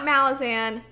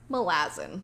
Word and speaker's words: Malazan: about this series, and he pronounces it not Malazan, not Malazan, but Malazan. I have never heard anybody else call it Malazan before. Even the audiobook narrator is like, nah, it's Malazan.